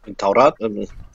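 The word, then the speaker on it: Tawrat: Now, T-A-W-R-A-T, how do you pronounce that, Abu? Torah.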